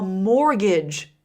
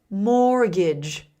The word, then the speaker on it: mortgage: It's almost impossible to buy a house without a mortgage. Listen to the pronunciation of that last word. Mortgage.